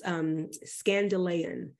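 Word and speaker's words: skandalon: So the word offense in the Greek, it's, and I'm going to probably butcher this name, but it's skandalein, and I'm going to spell it for us. S-K-A-N-D-A-L-O-N.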